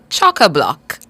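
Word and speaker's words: chockablock: c k let's go Chaka block cha block choca block your word of the day is pronounced choc Block it's an adjective a descriptive word choca block and it means extremely full crowded jammed a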